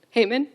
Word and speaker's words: Haman: man, I meant to ask Justin how to pronounce his name. Haman? Haman?